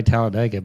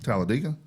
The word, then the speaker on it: Talladega: You know, I also say Tallaladega, but the people that live there say Tallaladega. Talladega, which is how which is how it's spelled also.